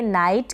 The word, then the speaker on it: knight: और IGH का pronunciation मैंने आपको प्रीवियस वीडियोस जो थे उनमें बताया था, आई होता है, IGH साथ में आता है, इसका उच्चारण आई होता है।